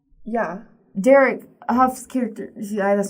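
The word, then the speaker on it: Hough: Derek Huff's character...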